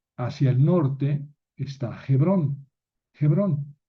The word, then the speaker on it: Hebrón: Murió en Kiriat Arbá, que es Jebrón. Hebrón o Hebrón, lo mismo. Eh, más bien hay que pronunciar Hebrón porque esa h se pronuncia.